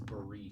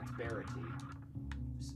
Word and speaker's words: Barity: Just like how my last name everyone pronounces Barit, and it's Barity. Rhymes with clarity.